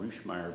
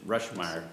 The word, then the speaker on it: Rushmire: Is your name pronounced? Is it Rushmire? Rushmire. Yes, sir. Okay. I don't know why I want to call it Roomeer but says Rush Meer.